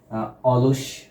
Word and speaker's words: অলস: তারমানে অ যখন অ এর মত হয় তখন তাকে বলি আমরা স্বাভাবিক উচ্চারণ। যেমন এখানে উদাহণ লেখা আছে অলস অ এখানে অ এর মতই হয়েছে।